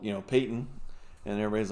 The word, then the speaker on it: Peyton: that that peyton uh even though it looks like patent you know in a way but yeah i guess they say peyton yeah that's how they pronounce it that's on there too